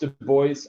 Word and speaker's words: Du Bois: so high level um Du Bois it is pronounced Du Bois apparently somewhere on one of his notes he actually like writes out the pronunciation nobody knows why he went with Du Bois um there's an interpretation of it was uh